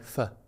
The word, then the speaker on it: pho: And I'm going to pronounce it the English way because if I pronounce it the natural way, I sound like a git. Pho. Oof, pho. Or as they say locally, pho.